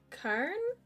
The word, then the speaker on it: cairn: go back to the Cairn? Of course. Cairn? Of course. How do you Cairn. pronounce it? Cairn. Cairn. Cairn. Like Karen, Karen. but put the R and N, like there's no E.